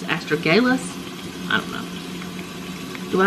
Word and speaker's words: astragalus: been saying it wrong I think I've been saying astrologous it's astragalus astragalus I don't know do